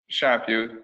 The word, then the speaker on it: Chaput: last year's captain, Chaput. Is that how you pronounce it? Chaput, yeah. Okay, so it's like a French name.